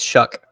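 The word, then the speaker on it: Shough: How you say his name? Is it Shuck? It's Shuck. Shuck.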